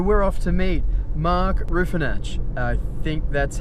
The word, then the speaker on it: Ruefenacht: Ruefenacht? You're very close. So it's Ruefenacht. Ruefenacht. Yes, it's a Swiss name.